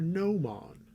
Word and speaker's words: Gnoman: to go and assist Inquisitor no man the g is silent so Inquisitor gnoman is